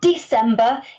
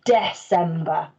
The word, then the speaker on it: December: the word is december listen carefully because it's not december it is december so i'm pronouncing this